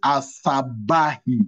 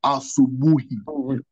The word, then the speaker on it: asubuhi: And that's why this influence of English, where you pronounce O as A, that's why Sister will be finding to say asabahi instead of asubuhi. It's U. She'll try to pronounce it A.